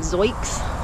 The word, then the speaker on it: Zoic: But another couple, they reached out and offered to send me a brand new set of, I call them Zoics, Z-O-I-C, but I think they're pronounced Zoic.